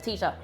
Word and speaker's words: Tita: the tuscaloosa says um oh no theta sorry i've started saying your name wrong again but i've corrected my health tita i made gluten-free don'ts